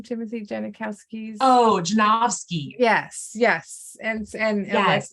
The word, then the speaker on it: Janovsky: that are you know I think is it Janikowski is that how you pronounce his name Timothy janikowski's oh janovsky yes yes and and yes it's called and